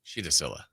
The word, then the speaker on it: Sila: got major Burns okay I found out the pronunciation of the Boston College player last name Sila first name sheta Shah Shilla oh okay Shilla okay okay